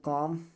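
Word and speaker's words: calm: यम से पहले L silent होता है तो इसका मतलब क्या हो जाएगा? कॉम, पॉम, पाम, ठीक है।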